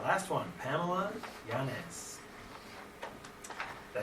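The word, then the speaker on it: Yáñez: It's Yanez. Yanez. It's hard to say. Well, they didn't put it But I on just my say paper. Yanez.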